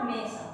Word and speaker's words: mesa: Mesa, muy bien, es la mesa, mesa. En guaraní yo le doy un acento sobre la A, mesa.